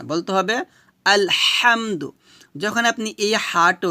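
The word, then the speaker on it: الحمد: যাবে না বলতে হবে আলহামদু যখন আপনি এই হাটা উচ্চারণ করবেন অবশ্যই গলার মাঝখান থেকে চিকন করে চাপ দিয়ে বলতে হবে আলহামদু এভাবে সাউন্ড বের করবেন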